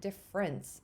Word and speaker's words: difference: And again, with difference, that's another one where I pronounce it difference, which kind of takes out a whole vowel sound.